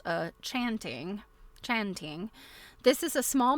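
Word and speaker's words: tjanting: because Okay, it's pronounced chanting. Okay, thank you. The initial TJ is pronounced like a ch. Okay, and hat. Okay, chant chanting.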